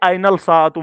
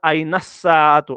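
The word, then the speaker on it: أين الساعة: से प्रैक्टिस करना है ऐसे कभी मत पढ़ना आइनल साअतु ये गलत है प्रोनाउंसिएशन इसकी गलत ये पढ़ा जाएगा आइनस साअतु आइनस आइनस आइनस साअतु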